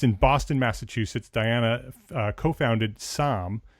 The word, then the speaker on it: SAAM: Based in Boston, Massachusetts, Diana co-founded SAM. It's spelled S AAAM architecture, SAM architecture.